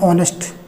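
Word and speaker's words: honest: जैसे लिखते हैं ऑनेस्ट, ऑनेस्ट, आवर, हॉस्टाइल। ऐसे बहुत से शब्द हैं जो ये साइलेंट हो जाता है, ये साइलेंट हो जाते हैं, उच्चारण स्वर से होता है, इसलिए आइन का प्रयोग होता है।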